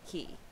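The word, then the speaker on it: cay: and the smaller islands even though they're spelled c-a-y are pronounced key cool little undercut rock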